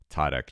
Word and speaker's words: Tětek: treaser and Satoshi labs and treasure Academy tadek how you doing hey happy to be